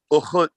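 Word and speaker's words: ukhut: And sister, we would say in Zarifa, U-K-H-U-T, Uhut, Uhut. One more again, you can spell that?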